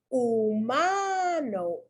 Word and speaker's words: humano: But in the word humano, the U is pronounced as the U. So it's strong.